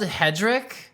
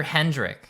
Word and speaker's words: Hedrick: up that it's the is it the Hedrick or Hendrick Society yeah it's spelled Hedrick but I can only ever hear Hendrick I I keep on wanting to say Hendrick but my whole thing